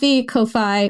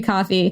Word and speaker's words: Ko-fi: Ko-Fi, I don't know how to pronounce this. Ko-Fi. It's spelled Ko-Fi, but I guess it's supposed to be coffee.